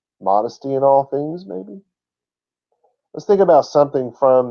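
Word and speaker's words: μή: The first word in Greek is May, like the month of May, but it's spelled M-E-I, not M-A-Y.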